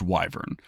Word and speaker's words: wyvern: According to D&D Beyond, it is pronounced wyvern, which is fine.